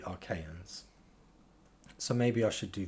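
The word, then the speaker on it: Achaeans: And I believe I just mispronounced that. I think I just said Arcanians, but it's actually Archaeans.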